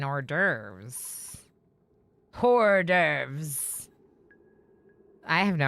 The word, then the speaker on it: hors d'oeuvres: Hors d'oeuvres Adrian. Okay, that's actually really good. Is that how you spell it? Hors d'oeuvres? Although you don't pronounce the H in hors d'oeuvres.